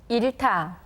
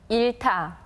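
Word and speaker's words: 잃다: Notice that we only hear the 리을 sound in the first syllable, and the 히읗 letter combines with the 티귿 consonant that comes after it to become a tension sound.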